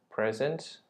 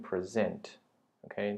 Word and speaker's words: present: Present. 对不起，这边呢我没有念对。它是动词的话呢，它就念 present。OK，呈现颁发叫 present。如果是礼物 present。OK，名词的这个单字叫 present。那如果是动词就叫 present. Okay, it's the same spelling but pronounced differently depending on the occasion.